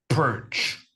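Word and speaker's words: Pirc: I think it's pronounced. P I R C. I've always pronounced it like perk. Yeah, me too. But the thing is the guy was from the Balkans or something. So, the C actually has some thingies on it, and that means it's supposed to be pronounced differently.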